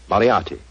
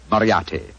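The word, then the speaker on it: Moriarty: it or mispronounce it I'm afraid I'll have to begin calling it the way it looks m o r i a r t y mariati Marti I shall remember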